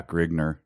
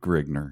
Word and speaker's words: Grignr: Or and then so Grignr, are we going to be okay with saying it that way? Yeah, Grignr. Yeah, that's how it. I think it is spelled a couple different ways, but I believe Grignr, yes.